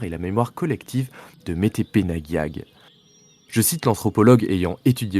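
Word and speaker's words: Metepenagiag: prononcé. Métépenagial. Métépenagiag.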